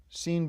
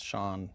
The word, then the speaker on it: Sean: Seen Bean Sean Pan.